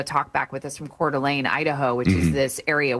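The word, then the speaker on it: Coeur d'Alene: Yeah, Cordelane. It's got like a little bit of a an all france to it, but yeah, a beautiful area, very popular.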